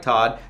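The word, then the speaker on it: Toht: name is arnold ernest todd spelled t-o-h-t but pronounced like todd the german word for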